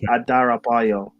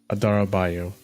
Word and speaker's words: Adarabioyo: You're pronouncing his name wrong. You guys are trying to... Tosin ADARABIOYO. ADARABIOYO. Tosin ADARABIOYO.